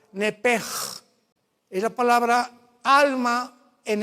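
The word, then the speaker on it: נפש: En el hebreo se pronuncia la sh como j. Nepej es la palabra alma en hebreo. Nepej.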